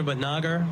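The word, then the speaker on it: Bhatnagar: Let's give it up for Batnagar. All right. Thank you, Rev, for your words and for your work. Uh, I'm Betager. That's spelled C H A N D R A.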